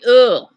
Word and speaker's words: eau: So all of you, if you want to say water, you say ugh. I know it sounds weird. Ugh. Like ugh.